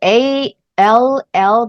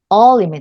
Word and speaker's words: all: 또 하나 이제 자주 나오는게 A 다음에 이렇게 a l l 붙는요 덩어리 철자도 많이 있어요 아네 어 요것도 조금 근데 발음이 특이한게 원래 우리 a 소리는로 배웠잖아요 그러면 이렇게 보면이 돼야 될 텐데 요거에 소리는입니다 all all all 따라해볼까요 all all네 all all all 그래서